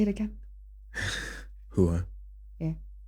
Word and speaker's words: Huwa: My name is not Hawa. My name is Huwa. Huwa. Huwa. Huwa. I like the way you say it. Yeah. Yeah. Say it again. Huwa.